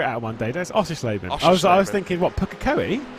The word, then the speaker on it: Oschersleben: Oscherblin. Oh, Oschersleben. Oh, Oschersleben. There we go. Oschersleben. That's not that bad. Okay. Well, we'll figure it out one day. That's Oschersleben.